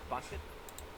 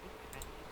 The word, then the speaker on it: Bucket: But I did bucket. It's pronounced bouquet.